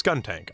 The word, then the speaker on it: Skuntank: No, yes, Skuntank.